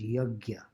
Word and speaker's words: yajna: actually be practiced without yajna. In North India, it usually gets pronounced as yagya. Y-A-J-N with a little umlaut on type and A on top. So yajna or yagya.